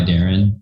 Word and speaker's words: Darin: it's at made by darren and my name is spelled phonetically d-a-r-i-n um and also check